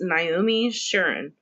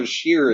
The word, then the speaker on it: Sharon: Her name is Naomi Sharon. Sharon? Like Sharon. Related to Ed? Sharon. Oh, Sharon. I was like, Chateau Sheeran.